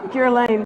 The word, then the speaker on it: Guerlain: By Guerlain.